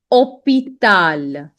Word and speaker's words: hôpital: Just memorize that way that H is considered to be silent in French. It is not pronounced whenever it is coming in the beginning of the letter. Okay, specifically. Okay. Now, hôpital, hôpital, hôpital, hôpital.